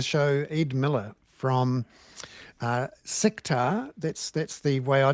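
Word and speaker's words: CICTAR: And um we welcome into the show Eid Miller from uh Sectar.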